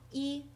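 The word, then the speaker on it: 一: word for one is e which is pretty obvious because it's only one horizontal line and it's usually first tone e is first tone tone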